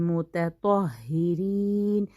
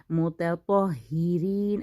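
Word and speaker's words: المتطهرين: बहुत त और तो को एक ही जगह से, एक ही मखरज है इन दोनों का, लेकिन एक बारीक लेटर है, एक मोटा लेटर है, तो बहुत क्लियर इसकी प्रोनाउंसिएशन करनी है, अल मुतत्तहिरीन, मुतत्तहिरीन। अब आगे हा भी बारीक, रॉ भी बारीक, सिर्फ और सिर्फ तो को ख्याल रखना है, मुतत्तहिरीन व युहिब्बुल मुतत्तहिरीन।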